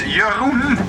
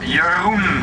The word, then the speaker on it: Jeroen: My name is Jeroen. Yeah, Jeroen. I'm Dutch, but nobody can pronounce my name. That's a problem. Yeah, some people call me Urine or Urine.